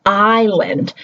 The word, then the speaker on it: island: So they're going to say, they might say Island instead of island, because they're coming from a language where each letter gets a sound, and a native English speaker would not give the S a sound, and the I would